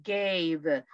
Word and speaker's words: gave: Aquí, gave. Pronuncie la V, gave. Porque si usted dice gay, está diciendo otra cosa, vea. Entonces aquí pronuncie la V, gave, gave.